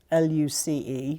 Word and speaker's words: Luce: but they do loose luc e which of course is Luce that Footloose no lose and they actually make